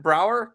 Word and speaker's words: Braeuer: Austin head coach Braeuer joining the show today. Did I pronounce that right, Coach? Close enough. It's like Braeuer's ice cream, so Braeuer.